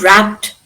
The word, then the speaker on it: wrapped: Now, the word wrapped, how do you pronounce, is pronounced with a dash ending? Is it d, ed, id, or t? The first one. Yeah, very good. It's why, what is the rule behind that? Voiceless sound. Sound. Yes, voiceless sound.